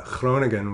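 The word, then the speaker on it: Groningen: it was um uh clone again which is a University Town in the northeastern part of the country Nice pronunciation thank you um yeah got the gutter all there and uh like many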